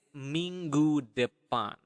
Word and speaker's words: minggu depan: Next week is minggu depan. Okay, one more time. Ming. Okay, the nasal sound there.